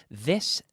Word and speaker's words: this: And to pronounce the TH properly, you have to stick out your tongue. Hay que sacar la lengua. This. No es this. If your tongue stays in your mouth and touches the roof of your mouth